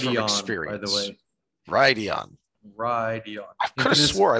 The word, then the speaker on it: Rhuidean: Okay, Rhuidean.